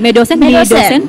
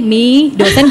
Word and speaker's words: Medosen: Bacanya gimana tuh? Medosen. Measuring dilution dose of anesthetic. Measuring the dilution dose of anesthetic drugs. Oh. Jadi singkatan itu Medosen itu. Aku pikir me itu mi dosen dosen gitu. Aku dan dosen. Iya, gimana nih bacanya me dosen atau mi dosen gitu.